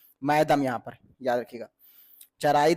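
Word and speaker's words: Moidam: तो चराई देव, यहाँ पर मैदम, इसको कुछ लोग माइदम पढ़ते हैं, कुछ लोग मैदम पढ़ते हैं, जैसे इसको जिसको, क्योंकि ये प्रोनाउंसिएशन बहुत गड़बड़ कर जाता है, इसलिए याद रखिएगा इंग्लिश में नाम है तो मैदम याद कर सकते हैं।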